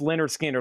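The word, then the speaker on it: Lynyrd Skynyrd: Leonard Skinner, pronounced Leonard Skinner, live from Jacksonville, $19.99 on Leonard Skinner.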